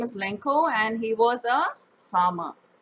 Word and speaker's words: Lencho: British or American so le n CH o is pronounced as lencho in American or Spanish or Italian whereas in British English we pronounce it as Lenco okay Blanco you can